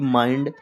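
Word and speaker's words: mind: कहीं भी लिखा हो आई के बाद एन डी या एल डी लिखा हो तो आई को बड़ा आ छोटी ई की मात्रा से पढ़ेंगे।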